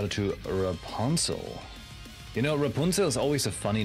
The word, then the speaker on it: Rapunzel: to Rapunzel you know Rapunzel is always a funny name if you imagine how English speaking people pronounce it cuz they say like Rapunzel right but it is it is very German Rapunzel that's how you get